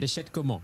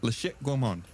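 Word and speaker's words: La Chatte Gourmand: How do you say it? La Chat. La Chat. It's C-H-A-T-T-E. La Chat Gourmand. La Chat Gourmand.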